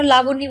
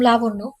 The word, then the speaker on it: লাবণ্য: ধ্রুবর চোখে চোখ রেখে বলল আমাকে আর কখনো লাবণী বলে ডাকবেন না আমার নাম লাবণ্য পরেরবার নাম উচ্চারণ করার সময় সাবধানে উচ্চারণ করবেন লাবণ্য কথাটা বলে দরজা